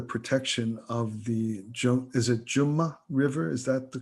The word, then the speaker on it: Jumna: It's pronounced two ways, Jamna, if you're speaking Hindi in that way, yes, a little more formally. So it's the Ja is the vernacularization of the Sanskrit Ya.